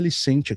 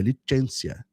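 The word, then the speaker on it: Licentia: E na verdade nem é Licência que se pronuncia, é Licencia.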